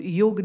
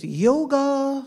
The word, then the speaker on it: yoga: to her is called yoga nidra y ou G a joker in English many people say - yoga but in Sanskrit it's a yoga y ou G so a is actually not pronounced nidra nidra mean sleep